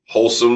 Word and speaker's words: Holsum: We're going to 115 Wholesome Way, That's in Glen Burnie, Maryland. And that's spelled HOLSUM Way.